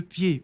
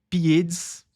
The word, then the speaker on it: pieds: pi mais uma vez a gente não pronuncia esse d e esse s no final é apenas pie, não é pieds, não, simplesmente pie.